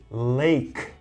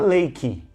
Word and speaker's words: lake: Lago, we say lake. Not lakey.